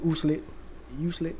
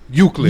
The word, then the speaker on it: Euclid: Uslit, Ohio.